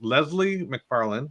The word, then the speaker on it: Leslie McFarlane: So for everyone in the audience, Leslie McFarlane, am I saying it right?